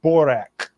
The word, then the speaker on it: Barack: His name was Barack, but he said he pronounced it Borak.